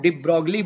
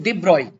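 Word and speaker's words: de Broglie: तो बच्चा एक साइंटिस्ट आए डिब्रॉय, ऑल दो उसको उनको हम डिब्रोगली बोलते हैं अपने प्रोनाउंसिएशन में, लेकिन डिब्रॉय। ओके, डिब्रॉय ने कहा कि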